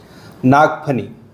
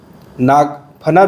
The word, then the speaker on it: नागफनी: नाग फनी नाग फना भी कहते हैं कहीं-कहीं नागफनी भी कहते हैं। लेकिन सही इसका जो प्रोनाउंसिएशन है वो नागफनी है।